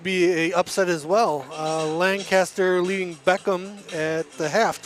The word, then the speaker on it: Lancaster: Lancaster leading Beckham at the half, 24-13.